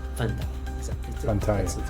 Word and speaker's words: Fantaye: Fantaye. Fantaye. exactly. Fantaye.